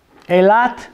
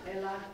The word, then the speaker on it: Eilat: Eilat. Eilat.